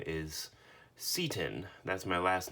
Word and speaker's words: Seton: this guy's name is I've heard of other people calling him settin erosion protector and they are allowed to be wrong but that's not how you pronounce it in any case this